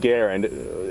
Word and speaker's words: Garand: it called grantham and the m1 is pronounced garen i have a whole